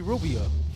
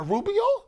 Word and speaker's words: Rubio: She's like, "Is that a Rubio?" I said, "Stop rolling your tongue when you say his name around me like that." Yeah. It's Rubio, It's not Rubio.